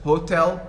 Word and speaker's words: hotel: the by syllabic words in china which level is stressed the first or second china the first in japan the second and so there is no window first hotel second and so in english